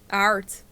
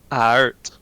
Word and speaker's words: aard: I am Dutch, so I know that Aard means earth. Ard. Yeah. Ard. Aard, Alright. as Aard. we would say it in the Dutch accent. Aard. Art.